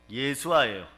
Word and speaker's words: 예수아: 그러면 예수님의 원래 히브리식 발음은요? 예수아예요.